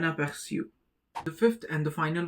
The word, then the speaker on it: aperçu: The pronunciation is siu, un aperçu.